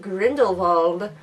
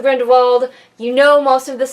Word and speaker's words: Grindelwald: fantastic beasts movie the crimes of Grindelwald which i don't know why they pronounce it the german way but that's okay but